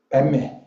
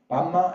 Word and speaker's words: Padme: Padme, Pad and Me, two syllables become one, and one sentence. So Padme, Pama and Padme is point is same meaning, but Sanskrit little bit is different of description of the pronunciation.